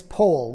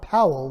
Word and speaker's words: Powell: of his name is pole like in whole not Powell like an owl Baden pole was born